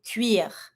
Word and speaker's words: cuir: going to be saying cuir. Keep in mind for the pronunciation, when it's finishing with the R, we're always going to pronounce that R. Une veste en cuir.